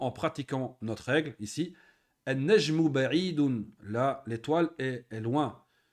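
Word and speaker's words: النَّجْمُ: Najmun an-najmu. Hein, on prononce, hein, pas le lem, on a vu la règle. An-najmu.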